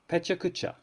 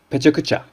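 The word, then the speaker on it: pecha kucha: Pechakucha, or Pechakucha. All of the syllables, and there are 4 of them, have roughly equal length.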